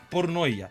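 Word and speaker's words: πορνεία: fornicación en griego se se escribe y se pronuncia pornoa la palabra pornoa tiene varias connotaciones tiene una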